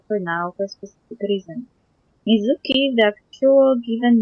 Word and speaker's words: Mizuki: have two people named Mizuki but with different characters completely uh so uh the meanings are never the same so her name in correct pronunciation would be yum Mizuki Mizuki as for you it's